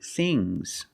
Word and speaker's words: things: fangs one thing two things so n plus s it's a soft G I have many things